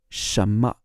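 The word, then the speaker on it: 什么: Chinese so we've got Shama means what Shama sounds almost like Shama Shama you can't really hear the N in the middle but Shama what then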